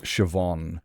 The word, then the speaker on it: Siobhan: It's kind of like reading an Irish name, you know, like Siobhan, and you're just looking at it going, there is no V in Siobhan.